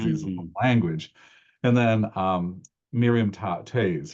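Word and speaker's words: Toews: and then Miriam tays her name is Tays. It's spelled TEOWS.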